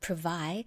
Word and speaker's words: Privai: So, Christina Stratton is the co founder of Privai Spa and Salon.